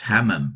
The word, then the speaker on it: hamam: And again, the word in this verse, hamam, which is translated in the King James as destroy, it means confused, disturbed, trouble, panic. Hamam is obviously rhymes with Haman.